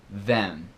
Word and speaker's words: them: prosos a falar então normalmente se pronúncia dentro de de uma frase como se fosse them then Então como a segunda palavra né mais uma vez é them then then último exemplo aqui é